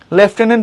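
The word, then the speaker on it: lieutenant: লেফটেন্যান্ট পড়তেছি, কোনো এফ নাই, এটা কি ঢং না?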